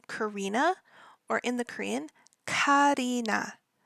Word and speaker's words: Karina: or in the Korean Karina Karina now that first Ka sound is going to be the hard K C Kina and her